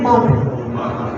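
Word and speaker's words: мак: Once again, mug.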